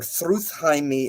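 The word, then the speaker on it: Þrúðheimr: So next we have in 5, and some of the I'm gonna overly pronounce a lot of these like Thruthheim or Thruthheimi is what it's said in the Old Norse.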